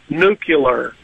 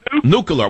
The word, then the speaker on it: nuclear: duck stranded one of the words that bugged me a lot is nucular you know that's George that was Bush new killer yeah and five-star generals for crying out loud cannot pronounce new killer nuclear why did they say nuclear why is that a hard word I don't know that's